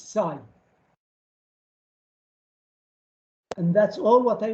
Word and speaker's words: psi: pronounce this letter psi you don't pronounce the p okay so you say psi is the uh schrodinger